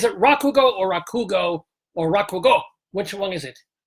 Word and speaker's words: Rakugo: Because is it Rakugo or Rakugo or Rakugo? Which one is it? It was the first one, Rakugo. Rakugo. With emphasis on the first syllable.